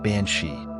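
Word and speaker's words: bean sí: comes from the Gaelic words Bean SE pronounced bansi which translates to woman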